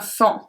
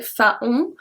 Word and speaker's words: faon: Numéro 33, un fan. enfant. That's a bit tricky because you want to say faon, but it's enfant.